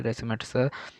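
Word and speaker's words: racemates: তারপর হচ্ছে রেসিমিকে তারপর হচ্ছে মিশ্রণকে রেসিমিক্স তারপর হচ্ছে উচ্চারণ হচ্ছে রেসিমেটস তারপর হচ্ছে ডি ল্যাকটিক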